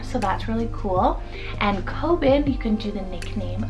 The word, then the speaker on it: Coben: Coben, spelled C-O-B-E-N, Coben. This is a great Cohen alternative. It has a habitational name meaning. It also means supplanter or ruler, so that's really cool. And Coben, you can do the nickname of Kobe.